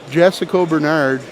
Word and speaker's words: Jessica Bernard: That is the correct pronunciation, just so we're clear. Jessica, if anybody in the chat's wondering, or anybody listening is wondering, not naming names, Jessica. That's the pronunciation we're looking for, baby.